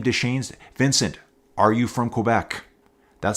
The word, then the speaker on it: Quebec: That's how you say it, folks. It's not Quebec. That's how I usually say it. As a Western Canadian, it's Quebec. You hit that K.